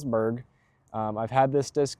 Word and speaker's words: Berg: The other disc I keep up here is my scramble or approach disc, the Berg uh or the Bærg, I think is how you're technically supposed to pronounce it, but it's Berg.